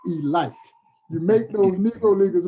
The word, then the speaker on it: Elite: giants now kids is spelled elite but it's pronounced e light you make those negro